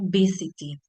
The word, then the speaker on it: visited: La pronunciación, al terminar en T, ¿sí? O D, acuérdense que lo que es la última parte vamos a pronunciarla como un id, agregando id, ¿bien? Entonces vamos a decir visited.